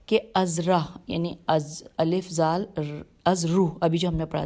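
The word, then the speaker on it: أذرح: کہ دونوں لشکر مقام ازرو، الف پہ زبر ہے، زال رے پہ پیش ہے اور ہے، ازرو یا دومت الجندل، اس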